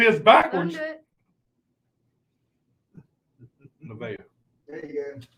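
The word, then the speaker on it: Nevaeh: Naveah. There you go. How do you spell it?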